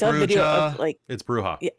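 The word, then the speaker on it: Brujah: I say like vontre I say brewha I recently saw a video I can't say it's bruha a video of clips of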